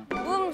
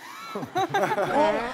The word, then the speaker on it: 붐: 붐 선배님. 어? 붐 선배 정확한 발음 뭐라고요? 붐. 붕. 붕 아니야 붕? 방귀 뀐 거예요? 붐 선배님. 붐 선배님 정답.